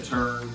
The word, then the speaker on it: Turn: did call the office you might even say turn and try to save your life American but